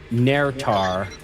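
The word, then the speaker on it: Naerytar: the words everything must be freed North to narar that is spelled n AE r y t a r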